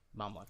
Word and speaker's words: Mamluk: Yeah, Mamluk. I just looked it up to make sure I was pronouncing it right.